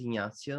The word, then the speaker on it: Ignazio: well first of all yeah my name is ignacio and i live um somewhere in the countryside